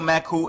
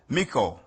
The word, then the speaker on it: Maku: Today, the title Maku is mispronounced as Miku or Miko.